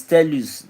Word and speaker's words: Telus: Yes, it's telus. It's tell that S, not X. It's spelled T E L U S. It's telus, not X, not Telus.